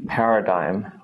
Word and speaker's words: paradigm: sound there we go for GM the G becomes silent like GN as well both of these it's kind of a redundant G it doesn't make a sound this is very very rare it only really appears in words like Paradigm which is quite tough